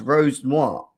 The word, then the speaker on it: Rosenior: We are here to talk about it's pronounced Rose Noir.